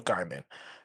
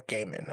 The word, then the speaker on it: Gaiman: I'm Neil pronouncing it Gaiman, wrong, yeah. Gaiman. Don't But say yeah, Neil Diamond did nothing wrong. I'm saying the G. Yeah, I'm probably not pronouncing the G hard enough, but it is what it is.